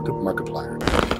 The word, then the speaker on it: Markiplier: name his YouTube name it's Mark Mary Mark Mar Markiplier Mark is first then I plier and uh he does